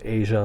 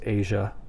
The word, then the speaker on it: Asia: couple different ways too I always thought it was Asia like the country Asia the continent I should say and